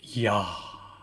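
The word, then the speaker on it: Yah: hey and it's pronounced ya but you have to hear the hey at the end when i say it's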